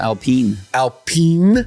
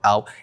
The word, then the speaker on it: Alpine: I've seen people go, Alpine. It's not. Alpine. It's Alpine.